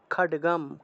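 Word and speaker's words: খড়্গ: তাম অভ্যধাবত তাম দেবীম খাডগাম খ র থাকলে ড উচ্চারণ হয় ঠিক না র এর উচ্চারণটা ড এর মত তাহলে খডগ খডগ খাটে গা চারে মত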